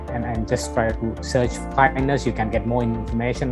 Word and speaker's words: KINDNS: is an initiative called Kindness, and if I just spell it out, that's KINDNS. So that is kind of spelled as kindness.